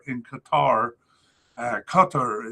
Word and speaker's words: Qatar: Uh recently moved to Aldai in Qoutar in Qatar. Uh Qatar is the way it's supposed to be pronounced since 2025.